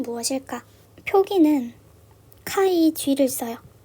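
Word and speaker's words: χ: 하는 건 무엇일까 표기는 카이지를 써요 카이라고 읽고 자이라고도 읽어요 카이 g 채색수 하는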